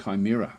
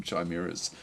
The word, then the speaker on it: Chimera: not to be that guy, but Chimera is pronounced with a hard cake." Chimera. Okay, thank you. I'll I'll forget that. I'll forget that within about five minutes. I've always called them Chimeas ever since I don't remember when I first